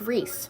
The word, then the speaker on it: Rhys: Um, my name is pronounced Reese.